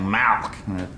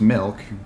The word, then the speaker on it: milk: want some milk now you're saying it wrong you're saying malk like it's a disease how do you say it i'm saying it the way everyone ought to say it milk m-i-l-k right like two percent